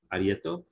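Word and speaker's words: areíto: they had this ceremony it's spelled a-r-e-i-t-o or t a-r-e-y-t-o arietto and what it was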